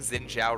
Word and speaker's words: Xin Zhao: dave thank you for noticing i'm only saying xin zhao right because i said it wrong forever and